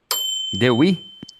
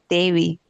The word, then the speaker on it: Dewi: me, Dewi, Dewey? yeah, in Indonesia, it's a bit different. Dewi.